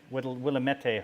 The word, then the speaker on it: Willamette: Just like Willamette hops. That's the proper way to pronounce them.